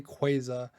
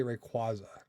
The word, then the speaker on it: Rayquaza: I know you could say Quaza, like a Quasar, but I say Rayquaza.